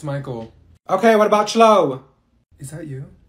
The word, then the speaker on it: Michael: she's eating rice you mean Beatrice thank you Mikhail ma'am it's Michael okay what about slow is that you no